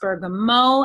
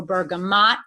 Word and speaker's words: bergamot: show you was actually Bergamo but it's sometimes it's pronounced Bergamo as the French do or bergamot even one is fine our sourcing location is